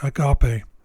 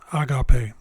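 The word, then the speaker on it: ἀγάπη: three syllables and that the second syllable should be stressed since the second syllable is capitalized it's the syllable which is stressed when spoken hypothetically speaking if the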